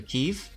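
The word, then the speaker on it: Kiev: I ranked out in the keev OR Kev however you want to pronounce it I loved that boat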